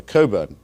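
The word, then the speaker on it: Cockburn: I should say that Alexander Coburn, to pronounce his name correctly, is a very valued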